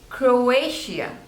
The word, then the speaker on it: Croatia: Ivory Coast next is Croatia Croatia so there are three syllables Crow a sheer and the stress is on the second one Croatia Croatia Croatia